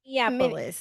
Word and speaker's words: Minneapolis: I cannot say that word. Minneapolis. Yeah. I always want to add an extra two syllables, Minneapolis, and it's not that.